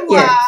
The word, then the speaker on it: Ohenewaa: pronounce it, I don't even think I can pronounce it properly. Ohenewaa. Is that right? Yeah, you're getting closer. Ohenewaa Yes.